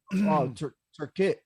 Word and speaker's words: Tikrit: Turkit. Am I saying it right? Yeah, we took Tikrit Air Base.